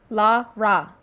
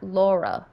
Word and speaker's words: Lara: it's in the controls La ra say it with me now not Laura it's Lara Lara C laugh there are